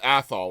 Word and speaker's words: Athol: to pronounce it? It's Athol, right?